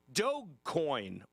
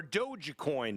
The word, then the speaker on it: dogecoin: somebody created a cryptocurrency called dog coin or dogecoin depending on how you want to pronounce it d-o-g-e-c-o-i-n and they created